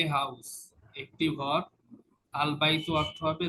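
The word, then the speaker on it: الْبَيْتُ: এই যে এখানে তায়ের উপরে দুই পেশ ছিল আগে, বাইতুন, এই এন উচ্চারণ হইতো, ডেফিনিটের ক্ষেত্রে তখন আর এই আল বাইতুন এনটা আর উচ্চারণ হবে না।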